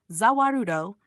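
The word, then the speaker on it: Za Warudo: Zawarudo is simply the Japanese pronunciation of the world.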